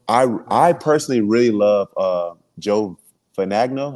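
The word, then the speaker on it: Fagnano: I personally really love Joe Finagno. How you say his last name? Figiano. Yeah, I really like him. I say it wrong.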